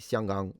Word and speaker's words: Xianggang: Well, I I'm saying Xianggang. It's the Mandarin pronunciation of Hong Kong.